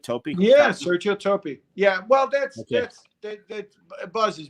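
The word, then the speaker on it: Toppi: Yeah, Sergio Topi.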